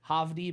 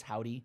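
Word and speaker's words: Hovvdy: It's Havdi, but I think it's Howdy. It's like the 2 V's thing.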